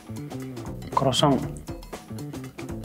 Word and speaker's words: croissant: Croissant. Presque. En français, c'est croissant. Croissant, croissant. Croissant. Croissant. Croissant. Croissant. Presque. Ouais. Croissant. Croissant. Croissant.